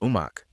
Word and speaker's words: Omak: One interpretation ties it to the Okanagan place name pronounced Omak, while another points to the Salishan term Omache, often glossed as good medicine or plenty.